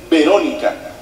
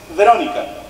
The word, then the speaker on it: Verónica: escape No b y la v se pronuncia con una ligerísima F como que rozan tus dientes con el labio ve por ejemplo no se dice Verónica se dice Verónica verc Verónica meti una